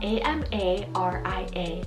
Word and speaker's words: Amaria: spiritual word name then we have amarya spell a-m-a-r-i-a amaria i feel like this would be such